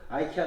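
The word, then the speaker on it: IKEA: 이렇게 아 역전 흘러가 써있어요 때 뜨는 스웨디시 발음으로 하면 이케 알아봤고 영이 영업 않으려 하며 미국식 영어발음 함은 아이키아 나왔다 그래서 저희가 이케아에 갔다는데 박의 많잖아요 그래서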